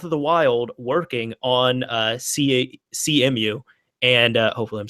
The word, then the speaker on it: Cemu: Cemu.